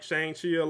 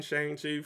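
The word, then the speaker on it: Shang-Chi: like shangshia like shangshi let me let me say it right because the movie does correct you I've been I'm so used to saying Shane Chief from you know reading them reading the comics and you know seeing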